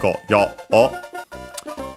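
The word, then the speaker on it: ごよう: Yeah, so we have this go yo u. So yeah, actually go yo o. Low, high, low.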